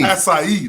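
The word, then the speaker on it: açaí: Yeah, acai. Acai. That's how you say it.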